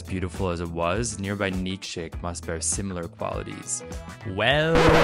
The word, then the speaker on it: Nikšić: And once we knew it existed, it took us a long time to say it properly. Nitschik. Nischik. Nischii. Nitschik. Nitschik. Nitschik. Nitschik. Nitschik. Nikšić. Nikšić. But s*** happens, so let's